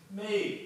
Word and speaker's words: Maeve: Maeve. My name is... It's pronounced Maeve. Maeve? Maeve. Maeve. Maeve. I feel like I'm saying it. No, you really have to open up the back of your throat.